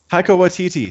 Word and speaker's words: Taika Waititi: director, I can't say his name properly, but Taika Waititi. Taika Waititi.